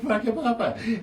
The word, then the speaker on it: Whakapapa: I said, for real, it is actually called Whakapapa. And it's spelled with a WH, not an F.